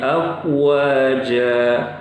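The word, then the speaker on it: أفواجا: Ya kita harus waspada Kalau bertemu dua huruf itu Fa dan Wau harus jelas dua-duanya ya sebagian orang bacanya langsung dimasukkan bapak-bapak begini nih ya ya fidinillahi afwaja afwaja jadi baca Fa nya itu enggak pakai makhrojnya kan harus begitu ini Iya langsung ah wah ini salah bapak-bapak rahimakumullah ya dan ketika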